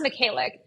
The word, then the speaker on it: Mykhaylyuk: Today we have our good friend, Naz Mykhaylyuk. Naz, did I pronounce that correctly?